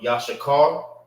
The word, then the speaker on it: Issachar: name of the brother, which is Issachar or Yashakar, is how you say it in Hebrew.